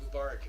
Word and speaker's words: Mubarak: Mubarak is pronounced.